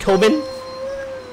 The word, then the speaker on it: Tobin: It's pronounced Tobin. Okay. Okay. Tobin. All right. Like the Tobin spirit guide off of Ghostbusters Tobin.